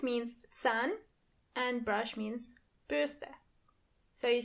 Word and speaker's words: Bürste: And remember, you don't pronounce the R as R, but more like R. So the word is die Bürste.